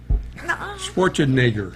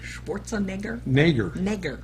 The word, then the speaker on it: Schwarzenegger: off but that's it correct me please schwarzkopf Schwarzenegger Schwarzenegger I said nagar but you know what